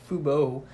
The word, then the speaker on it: fubo: was foo fubo tv i guess it's pronounced fubo f-u-b-o t-r what's going on coach